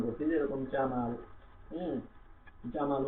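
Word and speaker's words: ح: তারপরে হা, এটা গলা থেকে নরম হ বের হবে, একটু ফ্যাস ফ্যাসা শব্দ দিয়ে আমাদেরকে কি করতে হবে? এই হাটা উচ্চারণ করতে হবে। গলা থেকে নরম, একদম নরম করে আমরা হা উচ্চারণ করবো, হা।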